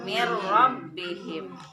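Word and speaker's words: مِن رَّبِّهِم: nun mati bertemu rok Min rabbihim dibacanya nggak boleh nginep behind tapi Miro mirrobbihim tapi kalau huruf bilagunnah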